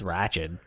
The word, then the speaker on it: Ratched: the first episode of do we pronounce it ratched like not like ratchet ratchet i think it's ratchet ratchet on netflix sarah paulson